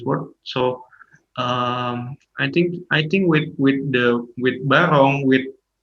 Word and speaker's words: Barong: Barong, Yes.